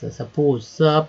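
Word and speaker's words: suppose: सपोज, एस यू जो है अ के रूप में उच्चारण हुआ है, तो सपोज, POOSE, सपोज, JSE जो है ज के रूप में यहाँ उच्चारित हुआ है, सपोज, मान लो, मान लेना।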